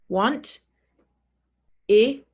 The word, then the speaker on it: wanted: Wanted. Want, id, id. Instead of pronouncing the e as an sound, we don't say want ed, we say want id. And the stress is on the base word.